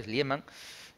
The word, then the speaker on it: Schliemann: trasfondo histórico real entonces este hombre schliemann entonces lo pronunciado bien en alemán de se dedicó a